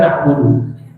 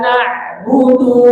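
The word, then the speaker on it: نَعْبُدُ: Maliki yaumiddin, iyyaka na'budu. Iya. Jangan baca i. Iya. Tapi enggak terlalu kuat juga. Iya, begitu. Iya. Ada tasdid di situ ya. Iya. Iya-nya tipis ya. Iya. Iya. Iyyaka na'budu. Na'budu. Tipis budu.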